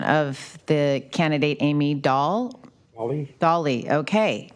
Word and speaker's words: Dahl: I'm not even sure I have the pronunciation of the candidate, Amy Dahl. Dolly.